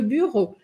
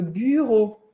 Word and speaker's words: bureau: questão de pronúncia interessante o som da letra U sozinha em francês é esse U com biquinho eu falo bu le Bureau Bureau e a letra e a u vai ter som de o então buro buro Tá mesmo que a gente